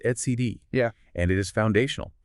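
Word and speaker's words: etcd: It's pronounced ETC.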